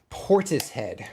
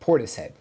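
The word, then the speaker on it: Portishead: Portis head. Okay, thank you. Thank you for the clarification. Thank um I knew I was saying it wrong. I It had to have been wrong.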